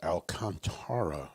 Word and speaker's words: Alcantara: It's Ruthie Logsden on vocals, and Andy Rutherford on guitar, and Arch Alcantara on bass, and that's the correct pronunciation of his name.